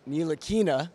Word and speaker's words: Ntilikina: Frank thank you so much we got the pronunciation Frank Neil Aina got that right and uh we are looking